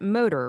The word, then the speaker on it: MTR: It's, you know, you spell it mtr, move, think, rest, but you pronounce it motor, right?